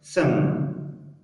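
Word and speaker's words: thumb: ګورئ هر کله که چېرته بي یعنې مخکې له بي څخه ام راسي یا له ام وروسته بي راسي نو بي څه شی دی؟ سایلنټ نه تلفظ کېږي.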